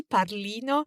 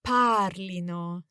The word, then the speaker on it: parlino: the accent there because we don't want to emphasize the ending you know probably the Temptation is to say it wrongly padlino but it's actually the emphasis on the stem parlino exactly the same way